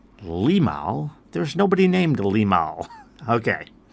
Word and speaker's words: Limahl: to be doing the song Neverending Story by Limal. That name is spelled L I M A H L. And first a little bit about that person because that may seem like a very weird name. Limal.